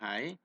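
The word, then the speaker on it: hay: Nah, sedangkan teknologi pengawetan, ya, kalau kita membuat hai, ya, ini tulisannya hai, bacanya hai, maka kita akan menghasilkan hijauan pakan ternak yang kering.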